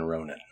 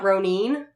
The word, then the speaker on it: Ronin: I know this because of the movie 47 Ronin oh not ronine I've never heard it pronounce groaning Scully doesn't realize that we're all